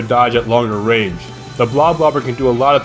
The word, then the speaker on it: Bloblobber: And before anyone asks, yes, it's pronounced Bloblobber, not Bloblobber, although I honestly don't care how you pronounce it.